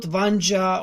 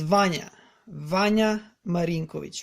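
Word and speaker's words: Vanja Marinković: So he's not Vanja or I don't know what. He's Vanya Marinkovic.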